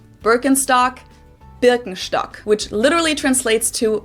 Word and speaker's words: Birkenstock: the world nowadays and it's natural that people pronounce it with their native accent. So English speakers usually say Birkenstock. In German, we say Birkenstock. Birkenstock.